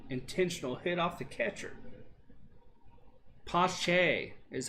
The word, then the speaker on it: Pache: Pache is how you say his name.